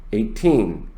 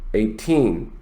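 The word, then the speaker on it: eighteen: Now, when you have a number that is based on tens, like 50, you stress the first syllable. Notice 50, 50. When the number is based on teens, you stress the second syllable.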